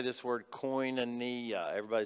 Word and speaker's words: koinonia: right now we're going to say this word coin and knee everybody say that write that down if you